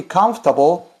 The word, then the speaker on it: comfortable: Pero ahora a la hora de pronunciar es comfortable. La F, esta F suena, la F como de ferrocarril. Escuchen. Comfortable. Comfortable.